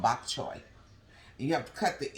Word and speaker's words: bok choy: me say this right bok chow Victor how do you pronounce it bulk child bok chow bok choy that's it okay so these are the